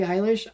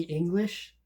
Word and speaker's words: Eilish: people would tell me, "You do you like Billy Eyish?" I thought it was a person named Billy English because the way the name is spelled.